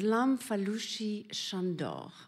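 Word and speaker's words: Lamfalussy Sándor: wanted to please him you should say his name in Hungarian which is LAM fushi shandor which I think is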